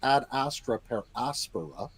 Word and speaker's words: ad astra per aspera: And it actually is a short E, so it should be pronounced ad astra per aspera.